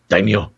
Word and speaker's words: daimyo: round table called uh daimyo daimyo am i saying that correctly sure can i say it like that is that racist no it's the right way to pronounce it i think uh there